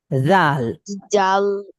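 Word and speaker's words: ذال: জাল এবং হা উচ্চারণ করার নিয়ম হলো জিহ্বা বের করে দিতে হবে। দুই দাঁতের মাঝ থেকে জিহ্বা বের করে দিয়ে জিহ্বাকে দুই দাঁত দিয়ে চেপে ধরতে হবে।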